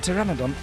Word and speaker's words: pteranodon: The pteranodon is a beautiful creature. And the pee is silent.